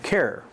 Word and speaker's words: Carrier: That's how you pronounce that name, carrier. They built carrier shacks.